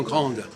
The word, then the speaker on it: grand: Et grand, on n'entend pas la consonne, le D. Ben, il faut le remplacer. On n'entend pas le D dans grand. Non. Il s'écrit, mais ça ne s'entend pas.